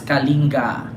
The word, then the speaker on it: Kalinga: Sa Kalinga ang aking bayan, andiyan siya sa Kalinga, pronounced as Kalinga.